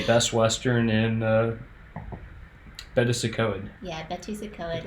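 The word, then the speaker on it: Betws-y-Coed: Yeah, Bettysacoed is how it's pronounced, but it's a hyphenated word.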